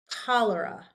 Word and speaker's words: cholera: If we have C and H, they sometimes sound like K. So this we pronounce cholesterol, not like a K. Sorry, that's a bad K. Cholesterol, not cholesterol. This is pronounced cholera. And this is cholemia, like a K sound, hard K.